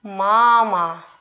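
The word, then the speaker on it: мама: in the world mama which syllable is stressed the first one so we say mama not mama but mama first bubble is a little bit longer the next one atom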